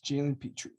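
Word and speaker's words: Jalen Pitre: okay we're looking at jalen petrie did i pronounce that right yes jalen petrie that's who i'm going with that's rising go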